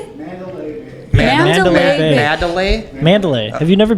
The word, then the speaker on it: Mandalay Bay: Mandolin Bay.